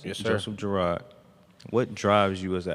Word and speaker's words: Joseph Girard: My question for Joseph Girard is how you pronounce it? Yes, sir. Joseph Girard.